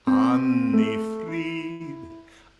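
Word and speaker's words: Anni-Frid: Annifrid.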